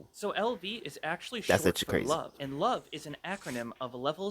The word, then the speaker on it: LOVE: hands on, increasing their level as they go. Um, actually, it's not pronounced level. It's pronounced love.